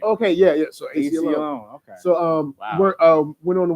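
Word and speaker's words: Aceyalone: So AC Alone.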